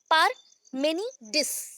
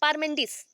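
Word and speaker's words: Parmenides: हो गया, अभी तोड़ के बोल दिया, पूरा अच्छा से बोलेंगे, पारमेंडिस। पारमेंडिस। देखो मेनिडिस तो होता नहीं है कुछ, है ना, तो वहां पे प्रोनाउंसिएशन फर्स्ट जब जाता है पारमेंडिस।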